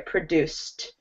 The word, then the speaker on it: produced: Where your ending should not sound like id. It should sound like a T here, produced.